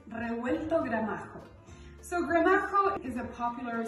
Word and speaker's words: Revuelto Gramajo: So the name of it may be a little bit hard to pronounce. It's Revuelto Gramajo.